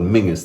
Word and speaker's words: Menzies: to the Mingus clan, or Menzies as it's spelled. Mingus, they pronounce it there.